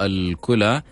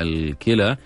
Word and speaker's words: الكلى: هي النطق الصحيح لها، احنا في العادة دائما بنقول الكلى الكلى الكلى، لكن هو في الحقيقة هو اللغة العربية هي الكلى، كلية والجمع كلى، تمام، والكليتي لكن الاسم